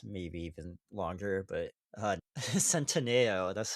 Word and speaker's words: Centineo: But uh Centineo, that's how it's pronounced.